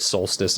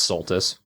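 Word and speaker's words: Soltis: Wonder how many people are going to get angry at you that you keep calling it Solstice and that's Sulttus.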